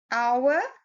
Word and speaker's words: hour: And we look at the word hour. It is spelled with an H, which is a consonant. But when you pronounce it, it is an ow sound, which is a vowel sound.